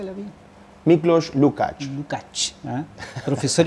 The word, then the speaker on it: Lukács: Muy bien, pues Miklos nos ha acompañado, Miklos Lukács, ¿cómo se pronuncia la vida? Miklos Lukács.